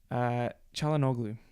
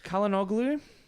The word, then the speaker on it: Çalhanoğlu: Çalhanoğlu, I thought was very good.